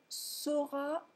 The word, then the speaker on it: saura: Si vous ne prononcez pas correctement la distinction phonétique entre sauront et seront, ça pourrait poser des problèmes. Donc, O pour savoir, saurait, saura, saura, et E pour être, serait, sera, sera.